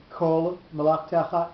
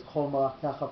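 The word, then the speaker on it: כל מלאכתך: difference, but you have Kol Malachtecha and Chol Malachtecha. So the way we pronounce it out loud is Chol Malachtecha for Tam Elyon.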